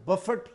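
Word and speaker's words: Buffett: ये जो दुनिया का दौलतमंद तरीन शख्स है, दूसरे या तीसरे नंबर का, इसका नाम वॉरेन बफेट ही है, और इसको प्रोनाउंस भी इसी तरह करते हैं। इसमें टी साइलेंट नहीं है।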